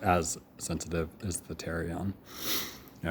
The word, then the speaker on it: pterion: It's called the pterion, has a silent P in the front, so pterion, but it's pronounced terion, okay?